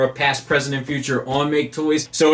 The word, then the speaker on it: Maketoys: video is going to be very long because make toys has a very long history and a lot of people have asked for a past president future on make toys so it's time I get it it's time